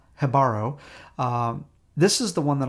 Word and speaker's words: Jibaro: Jibaro, and I did check that J is pronounced with a H, so it's Jibaro.